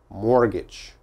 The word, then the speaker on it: mortgage: carefully mortgage mortgage mortgage which letters uh i don't pronounce well this e if i said morgag the e is necessary for the a the long a mortgage so this is important mortgage but this t is not important okay mortgage mortgage never never